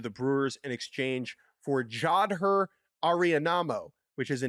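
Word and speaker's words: Jadher Areinamo: You really just stepped into that one because I did specifically ask around how to pronounce it, and I believe it is Jadher Arianamo.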